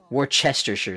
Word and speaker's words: Worcestershire: It's Worcestershire sauce.